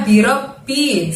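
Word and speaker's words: رب: Lalu berikutnya birobbi, seperti pada surat An-Nas, robnya di situ terdengar bunyi B double ya teman-teman ya. Ditahan dan ditekan, robnya ditahan dan ditekan ke bunyi B-nya di situ.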